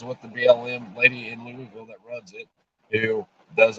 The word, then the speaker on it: Louisville: It's actually Louisville. How it's spelled, Louisville.